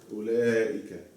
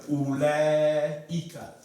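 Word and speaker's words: أولئك: Ulaika. Mm-hmm. So then that means I need to have this here. Yes. See? So you pronounce it what? Ulaika. Ulaika.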